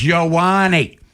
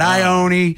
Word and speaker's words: Ioane: It's Ioane. Not Ione, not Iona with Jeff Rowland. Ioane is his name.